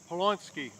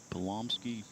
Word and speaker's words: Pomsky: high school number one Gavin Ponsky Pomsky um is the pronunciation of Gavin's last name Austin so some of